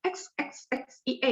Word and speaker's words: xie: Jadi nggak usah dipikir kan X ya, X I E gimana? Jadi X itu bunyinya S ya, xie.